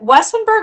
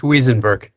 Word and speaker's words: Wiesenberg: And am I saying, is it Wessenberg or Wiesenberg? I can't hear you. I'm sorry. You're muted. I apologize. It's Wiesenberg. Okay, because I heard Mr. Gurule say it, and I'm like, oh, I'm saying it wrong.